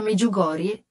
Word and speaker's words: Medjugorje: del 24 giugno 1981 Medjugorje che in croato significa tra i monti e si pronuncia Medjugorie è solo un minuscolo